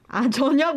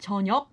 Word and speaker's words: 저녁: Definitely, it can be hard because it ends with this 기역 consonant, 저녁. 저녁. But it kind of sounds like 영, like the ng sound, like 저녁 먹을래? Yeah, when you put it with other syllables afterwards, then it's not as hard a 저녁 sound.